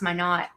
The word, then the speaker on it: Minot: But the thing that drives me crazy is it is pronounced Minot, but it's actually like a French word. Like I want to pronounce it Minot, and it makes me mad.